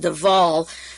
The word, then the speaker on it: de Wohl: And William Stevenson sent out a man named Louis de Wohl, D-E, it's pronounced DeVal, but it's spelled W-H-L, who came to the United States in 1941.